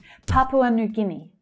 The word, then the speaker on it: Papua New Guinea: Papua New Guinea. Papua New Guinea. So the first word has three syllables.